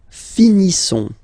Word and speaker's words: finissons: Nous finissons. Okay, I-S-S-O-N-S. Issons. Nous finissons. Finissons. Okay, final S not pronounced.